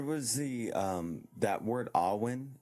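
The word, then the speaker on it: Awen: the um that word Alwyn how would you spell that in our language a-w-e-n uh it's it's Gaelic so they pronounce an A and R so it's like R1 Arwen and all when all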